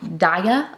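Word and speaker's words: Daiya: It's called Daya, I believe is how you pronounce it.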